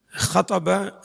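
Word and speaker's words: خَطَبَ: Anna Nabiyya sallallahu alaihi wasallam khataba. Nah begitu loh bacanya. Khataba kan 3 huruf berharokat. Pastikan nabernya di huruf pertama.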